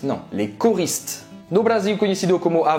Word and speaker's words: Les Choristes: Não pronuncia Les Choristes, não. Les Choristes.